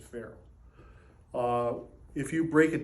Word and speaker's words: ferrule: to the whole mystery this is called a ferrule just like a feral cat that's exactly how you pronounce it feral uh if you break